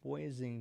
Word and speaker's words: Wising: Before I go, my name was just pronounced wising. Just wising just spelling.